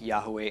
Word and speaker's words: Yahweh: scholars for that matter so I think Yahoo a and Yehovah are both perfectly viable alternatives perfectly viable yah yah they could could be a potential pronunciation - there's any number of ways to combine vowels with these letters to come up with